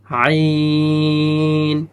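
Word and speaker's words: عين: আইন, এখানে ৪ আলিফ টান হবে, আইন শক্ত করে হবে এবং ৪ আলিফ টান হবে।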